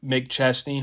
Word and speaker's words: McChesney: and we have an awesome guest Mr Adam Mick chestney hopefully I pronounced your last name correctly yes sir by